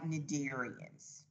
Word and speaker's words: Cnidarians: we're going to write nadirians see the c is silent and remember in the